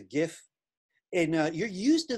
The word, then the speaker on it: GIF: about gif you know I know some of you pronounce it jiff which isn't really correct because the first word is graphic it's a gif I know you're used